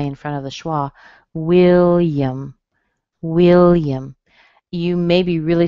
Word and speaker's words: William: All right, I see the word William. This is a really good one. Okay, but again, will is strong, and then the A on the end, it's a schwa. So it sounds like will yum.